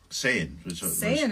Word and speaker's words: Saiyan: Saiyan, for example, could be Saiyan or Saiyan. Saiyan. Saiyan is what we were.